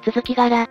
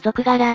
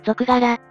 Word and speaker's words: 続柄: ものだからな例えば続き柄を続柄と読むのは本来は間違っているしかし多くの人が続柄と呼んだ結果